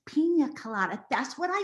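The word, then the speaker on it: piña colada: she says i'll have penis kalana mom it's pronounced pina colada that's what i say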